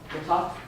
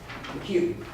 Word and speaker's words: McHugh: One's the one from Jeff Huff, McHuff, is that how you say it? McHugh.